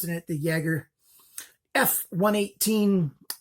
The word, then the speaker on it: Jager: this is the Jaeger not quite the jägermeister some people might pronounce it jagger i pronounce it the Jaeger yeah 118 - gee